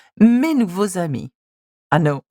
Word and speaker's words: nouveaux amis: As you can see, when there is an X at the end of the adjective and a vowel beginning just after that, you must pronounce it as a Z sound. Mes nouveaux amis.